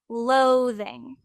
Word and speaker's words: loathing: word in natural speech, you would emphasize the first syllable. So you could say loathing, loathing, and almost de-emphasize or make smaller the second syllable, loathing.